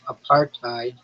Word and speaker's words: apartheid: In American English, the H sound disappears in practice when preceded by a consonant such as T.